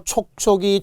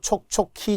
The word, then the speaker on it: 촉촉이: 끔찍이 그죠 그 이외에도 촉촉이 축축이 몸 조화에 의해서 우의 차일 뿐이지 발음 잘해야 돼요 촉촉히 젖은 눈동자 안 돼요 축축히 젖은 손수건 안 돼요 촉촉이 축축이 예외라 그렇다는 거죠 외워야 눈이